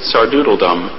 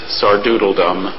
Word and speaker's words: sardoodledom: sentence excellent acting and directing masks the Poise sardoodle dumb uh are there any alternate pronunciations so just or doodle dumb what part of speech is it it's a